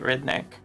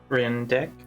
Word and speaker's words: Rindick: where did you meet redneck i mean rindik rinder i said it wrong the first time rin dick rindick where'd you make rindick